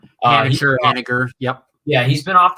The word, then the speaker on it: Haniger: I think it's Mitch Haniger. Haniger, yep.